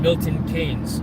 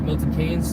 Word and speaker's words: Milton Keynes: How far away are you from Milton Keynes? I think that's how you say it, right? Milton Keynes, not Keynes. Milton Keynes.